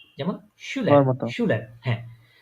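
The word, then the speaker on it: Schüler: উপরে, এই যে দেখেন এস সেহা কিসের মতো উচ্চারণ হচ্ছে এখানে? শ না? যেমন শুলার, শুলার, হ্যাঁ।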